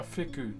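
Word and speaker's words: wheku: So, this is um a fu. W H E KU is how you spell it. While language is an F.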